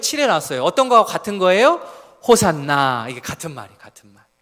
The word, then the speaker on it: 호산나: 호산나. 이게 같은 말이에요. 같은 말. 호산나라는 단어, 아람어로 구원하소서라는 말을 헬라어로 음역한 것입니다. 원래 발음은 호시안나 하는 게 더 원문의 원 발음에 가까워요.